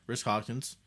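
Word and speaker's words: Rhys Hoskins: Do you pronounce this guy Risk Hoskins? Yeah. Okay, Risk Hoskins.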